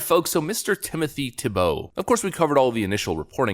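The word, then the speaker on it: Thibeault: on august 26 2022 mr tubeau pronounced tebow voluntarily retired from the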